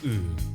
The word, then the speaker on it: ㅡ: That will also get you close to "ㅡ". Keep your lips flat and pull your tongue well toward the back.